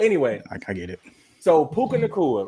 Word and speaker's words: Puka Nacua: I don't even, how you pronounce his name? Puka Nacua. Puka Nacua.